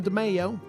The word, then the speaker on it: DiMeo: Those Italians, I'm not sure how they pronounce their names, but I'm DiMeo.